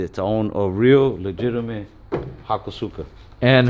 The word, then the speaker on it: Hakosuka: Somebody was telling me that you don't pronounce it like that. It's pronounced Hakosuka, but it's in Texas now.